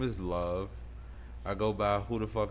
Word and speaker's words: LV: love for people to stop calling me LV um I understand that love is spelled unconventionally but my name is Love and I'm here with